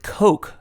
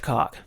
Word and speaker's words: Coke: Her pronunciation was a little off on the word Coke, as in Coca-Cola.